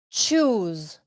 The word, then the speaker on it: choose: We have the last one, which is the verb to choose. Listen to this verb. Choose. Hay dos O, dos, y la S es Z.